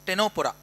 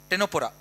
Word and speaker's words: Ctenophora: It is pronounced as Ctenophora. C silent here. Ctenophora.